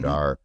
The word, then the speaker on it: Aadhaar: One of the things I would say that's unique, and you talked about UPI or Aadhaar, if I'm pronouncing that correctly, I never quite got it. Is it Aadhaar? Aadhaar, yes, Aadhaar.